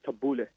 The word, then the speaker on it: tabbouleh: So whenever, just like how you said, you had the tabbouleh, Mhm. or excuse me, the Arabic pronunciation is tabbouleh. Tabbouleh.